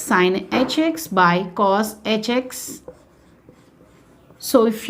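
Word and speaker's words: sinh: If we are taking the first hyperbolic function, that is sine h of x. How do we pronounce this? We can pronounce either way, hyperbolic sine x or sine h of x.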